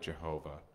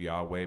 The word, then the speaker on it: Yahweh: When we get to the bridge, it says over and over again, "There is no God like Jehovah," which is a mispronunciation of Yahweh, but we speak English and we know what it means, right?